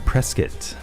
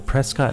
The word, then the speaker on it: Prescott: her game debut was at a college in Prescot I got to say it that way cuz it's not Prescott it's Prescot that's how it's pronounced just like how Norfolk is North so